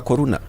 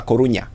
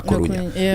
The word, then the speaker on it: Coruña: If you're going to pronounce it in English, why do we say Deportivo de la Coruna? Why not de la Coruña? Because it is actually de la Coruña.